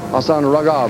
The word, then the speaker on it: Hassan Ragab: Hassan Ragab, is that the correct pronunciation, Hassan?